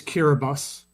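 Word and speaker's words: Kiribati: Yes, they are going to be correct your pronunciation. It's Kiraabus.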